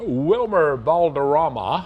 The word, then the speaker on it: Wilmer Valderrama: Best Supporting Actor in American Psycho alright 1980 Wilmer Valderrama I think how you pronounce it 39 years old started on TV